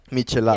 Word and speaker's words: michelada: Mich, like Mich. Michelada.